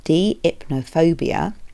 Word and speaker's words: deipnophobia: of you may be aware of called called deipnophobia so that's spelled D i p n o phobia deipnophobia